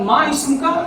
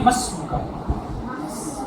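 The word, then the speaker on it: ما اسمك: اب ما اسم کا صحیح تلفظ نہیں ہے صحیح پروننسیشن نہیں ہے. جو واقعتاً اس کو بولتے ہیں کیسے بولتے ہیں؟ مسم کا. مسم کا بہت زیادہ کھینچتے نہیں ہیں.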